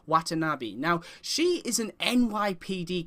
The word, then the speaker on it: Watanabe: Now, I apologize if I get this wrong, but I believe it's pronounced Captain Watanabe.